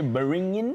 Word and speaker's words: beringin: Okay, beringin, or you call it the bring it in rice. If you can't pronounce it properly, B-E-R-I-N-G-I-N.